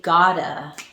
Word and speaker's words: have got to: it all the time when we use it we actually say gotta we say gotta instead of have got